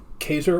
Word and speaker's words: Caesar: be Julius, and his last name would be Kaiser or Kaiser. Yeah. Yes. Now, I understand, because the later names for monarchs throughout Europe, the Russian Tsar and even Tsar and the German Kaiser all came from that, even though Russia and